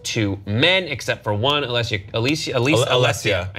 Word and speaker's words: Alessia: All the awards that were given out went to men, except for one, Alessia.